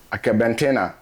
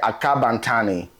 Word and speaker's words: Akabantani: And as you can see the name Akabantena, as y'all will pronounce it, Akabantena, but we will pronounce it Akabantani.